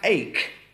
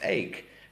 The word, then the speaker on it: ache: We have ache, not H. It's pronounced ache, as in headache, toothache, backache.